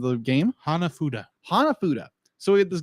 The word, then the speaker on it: hanafuda: name of the game hanafuda hanafuda so we hit this game a hanafuda who's mentioned throughout the beginning I said it wrong didn't I he said hanafudu say with me Hana